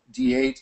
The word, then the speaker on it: d8: that is a uh d8 is pronounced date in the united states in english at least right so that's how